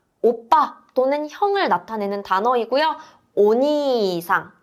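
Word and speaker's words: おにいさん: 오니상 길게 발음하는게 중요합니다.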